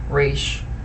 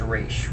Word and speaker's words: Ra's: way it is, but the most common pronunciation is Ra's. With the Batman Arkham games, I believe the Batman animated series pronounced it this way, and Arrow is also pronouncing it Ra's.